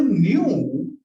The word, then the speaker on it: nu: इसको हम न्यू pronounce करते हैं. न्यू न्यू. इसका प्रोनाउंसिएशन होता है NU. ठीक है, ये सिंबल का प्रोनाउंसिएशन होता है न्यू.